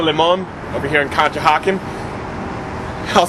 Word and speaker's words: Conshohocken: home here at le mans over here in conshohocken i'll spell it for you c-o-n-s-h-o-h-o-c-k-e-n conshohocken at this place el demon that absolutely